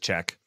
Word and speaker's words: CHKK: But we kind of talked about this last week with the company who's already forgotten how to pronounce them, CHKK. It's just Czech.